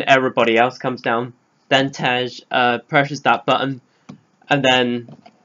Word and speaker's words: Tej: pronounced his name right, I thought the other guy was called TJ, but it's Tej, not TJ, whatever.